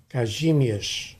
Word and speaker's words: Kazimierz: Yeah, the Kazimierz Pulaski, actually in Polish pronunciation is Kazimierz.